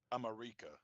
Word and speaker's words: America: Oh, it's pronounced America.